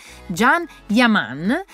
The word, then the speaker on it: Can Yaman: spero di andare bene dalla regia mi hanno detto che si pronuncia Jan yaman e spero di averlo